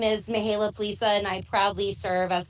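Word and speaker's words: Mihaela Ploszaj: sure you can, Vice Chair of this group, Mihaela Plaza. Am I close, Mihaela? Thank you so much, Is that close to Senator.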